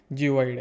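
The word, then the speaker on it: geoid: जिओइड है। शायद स्पेलिंग मैंने गलत लिख दी हो। स्पेलिंग है जी ई ओ आई डी जिओइड है।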